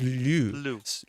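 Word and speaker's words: Loup: actually pronounce l Pearl actually it's l just like Lou like in English the name Lou because Lou is a wolf in French right like a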